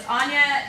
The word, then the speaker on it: Aine: As Adam mentioned, my name is Aine. That is Aine. I'm Irish, that's how we spell it.